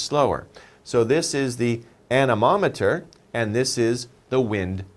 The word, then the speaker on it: anemometer: Well, let's spell it out here. A-N-E-M-O-M-E-T-E-R.